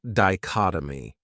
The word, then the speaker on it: dichotomy: Another great noun is dichotomy. This word has four syllables and the stress is on that second syllable. Dichotomy. That third syllable has that schwa, that uh sound.